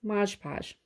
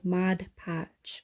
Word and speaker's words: Mod Podge: um another one is Modge Podge okay mod patch I know everybody says it's wrong I was saying it wrong too and I was corrected so uh Modge Podge do not use as your